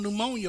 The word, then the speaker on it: pneumonia: letter no Mon you the P is silent would take it out we don't need to be there who who put the P on pneumonia verse 4 Lomas I